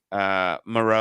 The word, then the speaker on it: Moreau: I was always saying his name wrong. Moreau.